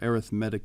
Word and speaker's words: arithmetic: and using arithmetic sequences so that's how we pronounce that word right there arithmetic in this case it's an adjective so the